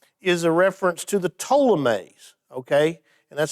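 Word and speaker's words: Ptolemies: of the south is a reference to the ptolemaise okay and that's spelled with a p p t uh o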